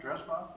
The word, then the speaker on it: Dresbach: Ginny Thomas, and Sandy Dresbach. Did I pronounce that right? Dresbach, right? Yeah.